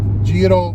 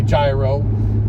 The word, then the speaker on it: Giro: does it mean okay so jiro in italian means tour and a lot of people come in and say gyro and it's not gyro a lot of